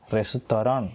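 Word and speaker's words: レストラン: ஸோ இந்த இட் அப்படின்ற வந்து ஸ்ட்ராங்கான சவுண்ட்ஸ்லாம் வந்து அங்கே கிடையாது. ஸோ அதனால் இந்த இன்னோடவே வந்து அவங்களோட சொல் வந்து ஸ்டாப் ஆகுது.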